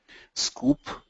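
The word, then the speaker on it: Sqoop: Scoop is spelled as S-Q-O-O-P.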